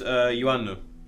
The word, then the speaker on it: Iannou: Well, it's actually pronounced Iannou. It's Greek.